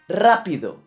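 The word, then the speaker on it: rápido: syllable Tamika other example rapido where is the absent yeah it's in the first cell level rapido and it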